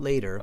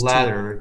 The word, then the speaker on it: latter: It's not later. It's Latter decades.